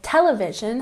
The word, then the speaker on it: television: For example, television has the emphasis on the first syllable.